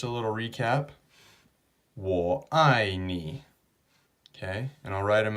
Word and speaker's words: 你: okay now the last one is you or knee okay the way you write that nice and